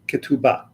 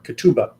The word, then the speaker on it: ketubah: last two thousand plus years something called a ketubah or ketubah depending upon how you want to pronounce it the ketubah which was presented accepted